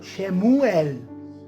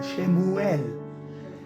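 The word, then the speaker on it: שְׁמוּאֵל: Samuel, Samuel en hebreo, yo no soy experto hablando hebreo, pero en hebreo suena algo como Shemuel. Shemu separado de él. Así se pronunciaría el nombre de Samuel. Shemuel.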